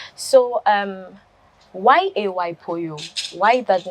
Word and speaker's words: Poyoo: And the Poyoo, I do read rhyme. And the rhyming, my boss is called Spoto.